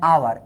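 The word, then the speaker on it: hour: তারপরে দেখো অ্যান আওয়ার, এখানে এইচের উচ্চারণটা কিন্তু সাইলেন্ট আছে, আওয়ার আমরা সরাসরি বলি না, হাওয়ার কিন্তু বলি না, আমরা বলি আওয়ার, অন আওয়ার, টু আওয়ার।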